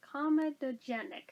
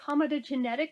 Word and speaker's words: comedogenic: i don't know why i always try to add an extra syllable in there that is not there i always want to say comedogenetic and i'm like no it's not genetic it's genic oh goodness anyways let's